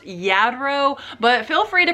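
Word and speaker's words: Lladró: I'm pretty sure that the manufacturer of this is pronounced Yadro, but feel free to correct me in the comments if I'm wrong about that.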